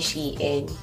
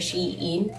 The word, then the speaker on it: Shein: Yung tamang pronunciation ng Shein ay Shein. Correct me if I'm wrong, pero yun kasi yung na-research ko guys. Hindi siya Shein, kasi dati ang tawag ko Shein.